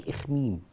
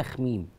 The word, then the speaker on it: أخميم: أخميم بقى، هي وصتني قبل الهوى قالت لي بلاش إخميم، لأنه بيزعلي قوي من كلمة إخميم دي، خليها أخميم، لأنه ناس كتير قوي بتنطقها غلط.